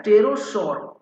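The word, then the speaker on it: pterosaur: ठीक है क्या है टेरोस ये पी है मतलब पी जो लेटर है वो साइलेंट है भाई ठीक है पी लेटर क्या है साइलेंट है तो उसको हम पढ़ते है टेरोस ठीक है चलिए जैसे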